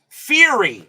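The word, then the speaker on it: Fyhrie: going to be Mike Fiery. I don't know how that's pronounced. Let me find that out real quick. Fier Fiery. I'll find out in a second. Let's see. and Fury. Okay, Mike Fury.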